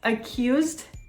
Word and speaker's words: accused: Did you guess accused? Correct. The verb accuse does not end in a t or a d sound, a t or a d, so we do not pronounce the ed syllable.